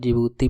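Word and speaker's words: Djibouti: D silent रहता है, जिबूती पढ़ते हैं इसको, DGJIBOUTI।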